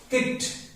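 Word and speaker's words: cooked: तो watched, लुक्ड, पुष्ट, किक्ड, इस तरह से ये इसकी प्रोनाउंसिएशन है।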